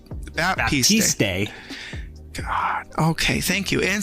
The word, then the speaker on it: Baptiste: Baptiste.